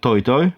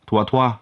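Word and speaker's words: Toi Toi: Poland we call it toy toy because of the French brand which makes most of this toilets but actually it should be pronounced twatwa it's risky step inside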